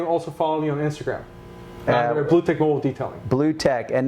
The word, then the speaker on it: Blue Tek: so you can see my company name is Blue Tech, Blue, and then Tech, T-E-K.